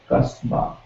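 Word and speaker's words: कस्बा: And the word for that town is kasba.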